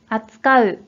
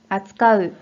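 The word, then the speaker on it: 扱う: 자, 이 한자는 뜻으로만 읽어서 扱う、扱う。 라고 발음을 합니다.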